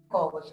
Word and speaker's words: collage: na decoração, na arquitetura, a pronúncia correta seria collage, né?